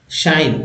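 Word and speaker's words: sign: part word है चुअल जी एन में जी जो है साइलेंट है और न का एन का उच्चारण जैसे एस जी एस आई जी एन साइन इसमें जी साइलेंट है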